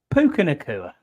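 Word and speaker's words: Puka Nacua: Puka or whoever the fuck our official name pronouncer. Puka Nakua.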